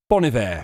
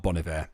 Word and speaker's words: Bon Iver: your artist may be bonivere for example is not bolivare apparently so c major